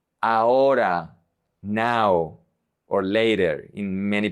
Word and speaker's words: ahora: The H is always silent in Spanish. You never pronounce it. It's invisible. It's like you don't see it. For example, hoy, hoy, today. Ahora. This is a very common mistake.